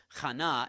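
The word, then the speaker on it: חנה: So there actually is that H sound there. It's Chana in Hebrew, and it's your word grace.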